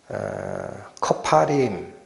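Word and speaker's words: כפרים: 이게 뭐라고 읽히는 단어냐면 커파림. 발음만 잠깐 기억해 주세요. 커파림.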